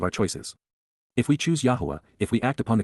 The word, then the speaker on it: Yahowah: And, YAHOWAH, the proper pronunciation of the name of Eloah, God as directed in